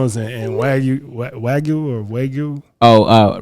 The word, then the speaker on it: wagyu: process but uh found out that it's actually pronounced wagyu and um according to Google you know because